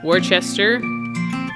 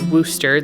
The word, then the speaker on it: Worcester: And then Worcester is also on there, or Worcester, that's what they actually call it. We lived in New England for a while, so it's Worcester, even though it's spelled Worcester.